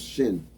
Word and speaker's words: shin: So if it's to the left, it's sin. If it's to the right, it's shin. You pronounce shin.